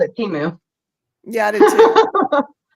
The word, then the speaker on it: Temu: say it temu yeah I used to say Teemu but when I saw the commercial for it it's temu oh see I called it teu yeah I did to temu teu what is it